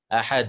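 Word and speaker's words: أحد: If it was a normal Hamza, I could have joined it. I would have said, Qul Wallahu Ahad. Qul Wallahu Ahad. Right? But no, this is Ahad.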